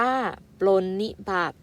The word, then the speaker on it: ปรนนิบัติ: ต่อ มา นะ คะ ปล้น มี บาด รน มี บาด อ่าน ว่า ปรนนิบัติ แปล ว่า เอา ใจ ใส่